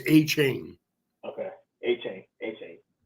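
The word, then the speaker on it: Achane: oh I said a chain I think actually pronounced a chain a chain like a chain pronounce a chain yes okay okay when he came out of college they pronoun everyone was pronouncing aan and so was I but when he's he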